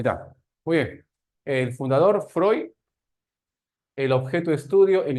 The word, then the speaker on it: Freud: Se escribe Freud, pero se pronuncia Freud, ¿no?